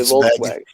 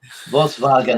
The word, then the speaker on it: Volkswagen: in english we say volkswagen volkswagen and then uh yeah then kevin gave says uh ws are pronounced as vs vssnw my mom is